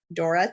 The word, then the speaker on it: Thora: So just as an introduction, my name is Dora. It's actually spelled Thora, but pronounced with a D.